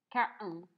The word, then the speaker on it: carton: Carton. Carton. Carton. Carton. Carton. Tube. Roll. Can. Aquí la R, no, la T no la pronunciamos y hacemos como una pequeña pausa.